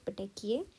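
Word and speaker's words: petechiae: PPE stands for P stands for सबसे पहले बनते हैं पटेकिए आई pronounce it like this पटेकिए and then it अगर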